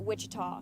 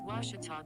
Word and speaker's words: Ouachita: cheetah back in texas everybody pronounces it wichita but really it's ouachita washington washington how would you pronounce it it's washita baptist university get it right it's